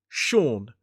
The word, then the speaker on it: Sean: So the pronunciation of this is Sean. Sh or n. Sean. 1 syllable. So it's got that long or vowel sound, the same one we see in door.